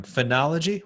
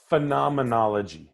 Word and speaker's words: phenomenology: And, you know, you mentioned that term, phenology. How do you say that again? Phenomenology. Phenomenology. It's like a Yeah, phenomenon. phenomenology. Yeah, that's Is the root word phenomenon?